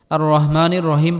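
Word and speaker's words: الرحمن الرحيم: রাহিম আর রহমানির রাহিম এখানে বড় হা এটি গলার মধ্যে হালকা চাপ দিয়ে উচ্চারণ করতে হবে আর রহ আর রহমানির রাহিম এখানেও বড়হা আর রহমানির রহিম বলা যাবে না আর রহমানির রহিম বললে নামাজ হবে না আর রহমানির রাহিম আর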